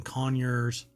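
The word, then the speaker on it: Conyers: and spa water uh care products located in conures that's how they pronounce it um Georg has led to an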